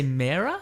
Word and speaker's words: Mera: We got a photo this week of Mera or Yes. Mura. How do you say it? I say Mera? Yeah, I say Mera as Okay.